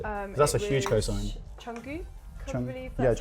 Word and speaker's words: Jungkook: Jungkook. I Jung- believe yeah, that's, Jungkook.